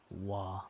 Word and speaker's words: は: This is pronounced wa.